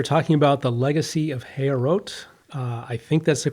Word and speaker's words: Heorot: it The Legacy of hero uh so with French pronunciation but it's not French it's heot is the